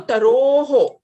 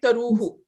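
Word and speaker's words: तरोः: The difference between oo and o is the shape of the lips. So taroho, o. Tarohu. It's still sounding like taruhu.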